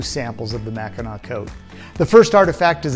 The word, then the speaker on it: Mackinaw: French-Canadian fur traders transliterated the word and pronounced the final consonant as aw rather than as a hard C. Later the British truncated the word and changed the spelling to match the French pronunciation, Mackinaw.